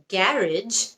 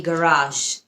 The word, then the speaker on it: garage: গ্যারেজ নাকি garage, দুটাই correct.